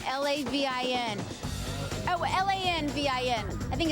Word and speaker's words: Lanvin: I wish I could pronounce it right. L-A-V-I-N. Oh, L-A-N-V-I-N. I think it's Lanvin.